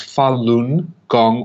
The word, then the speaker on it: Falun Gong: spiritual discipline in the Buddhist tradition and it's pronounced Falun Gong also known as Falun Dafa it consists of